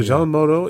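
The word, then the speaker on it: Jeanne Moreau: yeah I can't pronounce is it Jean Moro is that how you say Maro jeano Jean Moro yes with the webbed fingers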